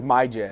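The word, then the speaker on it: Myjai: cincinnati magi sanders so i believe that's how you pronounce it i think it's my jam my j no you're right i'm looking at the pronunciation now it's my j sanders a lot of raider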